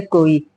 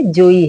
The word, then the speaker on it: जोई: इसमें चौपाई है, यह सतबार पाठ कर कोई। यह सतबार पाठ कर कोई की जगह जोई है। यह सतबार पाठ कर जोई, ये करेक्ट प्रोनाउंसिएशन है।